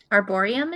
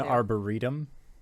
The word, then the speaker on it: arboretum: me send this i i think we're adding syllables i believe it's an arboretum a b a-b-o-r-e-t our burrito it's like a burrito yeah arboretum let's go